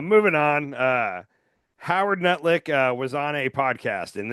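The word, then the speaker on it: Lutnick: Uh, Howard Nutlick was on a podcast and this made headlines. Um, first of all, Howard, I'm going to say his name correctly here. Howard Letic um, he used to be neighbors with Jeffrey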